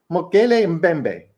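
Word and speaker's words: Mokele-mbembe: It's mokele membe, mbembe, mokele mbembe is how it actually is pronounced, I think.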